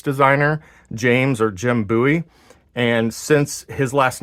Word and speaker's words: Bowie: people pronounce this style of knife as a Bowie knife um and then there are some who pronounce it as a buoy knife you know being uh originally from Texas